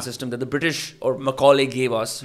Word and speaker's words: Macaulay: And am I pronouncing the word Macaulay rightly?